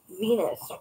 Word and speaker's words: Venus: Venus rhymes with Genus.